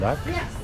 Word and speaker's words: Rak: Et puis, rack ou lac, parce que les Thaïlandais ne prononcent pas les R.